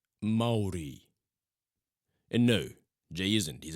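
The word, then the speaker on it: Māori: I know you've helped out a few Maori boys in the past. Maori? You know, me. You're a Maori? What about Jelagaya? Is he a Maori? It's pronounced Maori.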